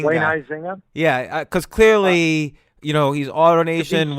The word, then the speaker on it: Huizinga: Huizinga. Wayne Huizinga.